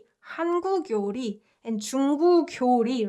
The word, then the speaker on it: 한국 요리: It should be 교리, because 그 and 요 has to be connected according to the rule that we just learned, right? However, these guys are not pronounced that way. These guys are pronounced 한국 요리, 중국 요리.